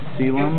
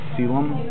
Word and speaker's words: coelom: And this is the coelom. I believe it's how it's pronounced. Yeah, coelom.